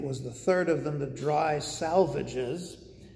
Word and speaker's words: The Dry Salvages: the third of them the dry salvages which the poet instructs his readers to pronounce as the dry salvages which is very strange